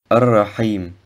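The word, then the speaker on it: الرحيم: Das H sollte aus dem mittleren Kehlkopf ausgesprochen werden. Ar-Rahim.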